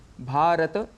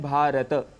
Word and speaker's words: भारत: वही लिखा जाता है उदाहरण समझते हैं भारत इस शब्द से देखिए हम बोल रहे हैं भारत तो इसमें भ आ र अ त अ यह ध्वनियां है लेकिन सामान्य रूप से जब हम बोलते हैं तो अक्सर भारत कह देते हैं भारत कहने से त में जो अ है साउंड वह हट जाता है इसे संस्कृत में दोष